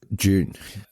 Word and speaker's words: Dune: a British pronunciation so the way we say it which is June which sounds like June the month June is the British pronunciation and then this is